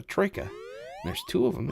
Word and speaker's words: troika: horses in Russia, and it's pronounced as a troika.